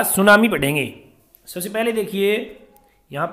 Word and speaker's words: tsunami: good morning student आरमैट class का chapter दा सुनामी बढ़ेंगे सबसे पहले देखिए यहां पर यह नाम है सुनामी इस मिट्टी साइलेंट है यह सुनामी बोलते हैं यह जापानी भाषा का शब्द है